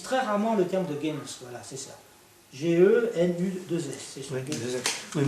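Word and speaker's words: Genuss: Ça s'écrit pas G-E-N-U-2-S? Comment c'est? Genius.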